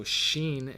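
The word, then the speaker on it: שין: and that's the you you need your teeth in order to pronounce the word Xin right it's the wind blowing through the teeth that is exactly the letter Xin or depending on the dot it could be a seen but anyway less Shan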